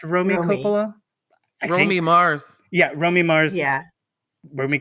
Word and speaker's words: Romy Mars: about uh Y is it Romy is it pronounced Romy Copa Romy Mars yeah Romy Mars yeah Ry copala mors yes